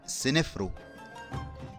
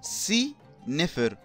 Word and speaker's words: سنفرو: او السمكه الغاضبه والملك سيفر او اللي احنا بنقول عليه سنفرو سي نفر او واللي معنى اسمه